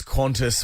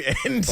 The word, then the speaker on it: Qantas: Hey, John, an honourable mention to Carrie Bickmore's Qantas one time. Yes. So she Yes. pronounced it Quunti.